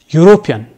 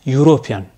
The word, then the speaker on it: European: a consonant sound example European this word begins with a vowel letter e but e is silent it is pronounced European in this word e